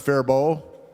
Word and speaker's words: Faribault: That's pronounced Faribault. The L and T are silent, but I tried to prep you for that, but you weren't going to listen to me, were you?